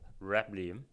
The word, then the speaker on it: Reblium: people ask me, and I also cannot pronounce my new startup called Reblium. And a lot of people saying rebellion, but that is exactly what it is. So Reblium is the Latin word for rebellion.